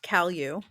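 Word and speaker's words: Cal U: Yeah, it's pronounced Cal-U, so as to distinguish it.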